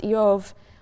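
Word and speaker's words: איוב: The name Job, which in Hebrew is pronounced Eov, is sort of bivalent in meaning.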